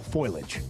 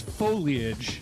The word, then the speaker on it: foliage: time for the fall foilage. The fall what? Foilage. Okay. Is it foliage or foliage? It's foliage. Foliage. It's three syllables.